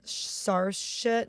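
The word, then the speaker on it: Saoirse: it right uh s sarit she's Irish SAR it's like s i is not a good it's like s i o r s e it's an Irish name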